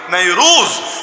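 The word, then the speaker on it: نيروز: আরবিতে নাইরুজ বলে, ফার্সি উচ্চারণটা ভিন্ন, আমরা আরবিটাই শিখি, নাইরুজ।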